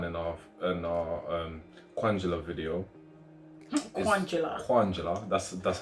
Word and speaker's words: Kwanjula: Kwanjula.